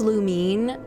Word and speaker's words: Lumine: I say Lumine, I know it's pronounced Lumine, especially since we've seen Etha pronounce her name Lumine. I just I've just been doing it as Luminae for too long, so I've I'm just going